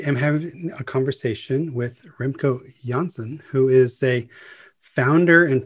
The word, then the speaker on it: Remco Janssen: So as you said, Remco Janssen, you pronounced it correctly.